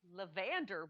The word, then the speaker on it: Levander: we don't know but it's levander williams accent on the second syllable and it's michael t